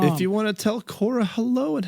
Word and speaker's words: Quorra: If you want to tell Cora hello and how adorable she is, Look at Cora.